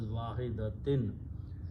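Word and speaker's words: وَاحِدَةٍ: So this will be pronounced as wahidatin. In the tajweed, when waw and noon sound come together, it becomes noon gunna idgham. So it becomes kanafsim wahidatin.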